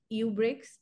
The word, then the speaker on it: Eubrics: So we have called it Eubrics, E plus rubric, and we have created an S because that just gives us a better way to pronounce it.